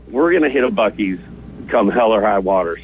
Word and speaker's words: Buc-ee's: these people know their Buc-ee's, man. They know it's not Busey.